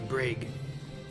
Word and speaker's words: Braegh: Or did you come about the brag? Bravo. R A E G H. Brag is what I'm pronouncing it.